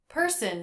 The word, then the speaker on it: person: person not a perfect person is a two-syllable word which syllable is stressed not in person not in person the first syllable / hmm the second syllable doesn't really have a vowel in it it's the schwa sound but when the schwa is followed by n you don't need to try to make a separate vowel sunsun person person not